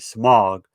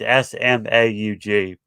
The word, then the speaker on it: Smaug: But the thing is, a dragon took over named Smudge. I think it's how you pronounce his name. It's Smaug, and the dragon had took over the mountain.